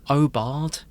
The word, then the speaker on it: aubade: Oard. A u b a d e. Say it. Spell it again.